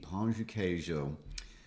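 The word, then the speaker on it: pão de queijo: or whatever in our chairs and we eat pancho cajo did i say that correctly you did okay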